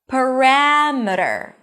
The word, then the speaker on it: parameter: Parameter, not parameter. The stress falls on the one syllable before the suffix, and suffixes are usually reduced.